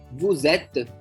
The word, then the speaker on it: vous êtes: So that the S of the subject pronoun vous is pronounced as an English Z in the phrase vous êtes.